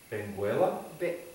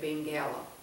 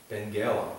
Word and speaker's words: Benguela: And in the town Benguela? No, you don't pronounce. You say Benguela. Benguela.